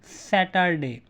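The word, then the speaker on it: Saturday: एंड in British accent we will pronounce it एज सैटरडे। यू see just are को pronounce नहीं करते।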